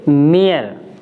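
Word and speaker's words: mere: एम ई आर ई, यानी ई आर ही है last में, तो इसको हम पढ़ेंगे मियर।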